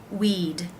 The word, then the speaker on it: we'd: The apostrophe D with the word we, again, is just simply the D sound at the end of that word, not adding a syllable. Weed, weed. It's pronounced just like this word, weed.